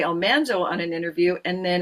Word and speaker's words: Almanzo: So, we've been saying for years, Almanzo. She said, "Almanso." I I'd been told by in letters for years that we'd been saying it wrong, but there was nothing I could do about that.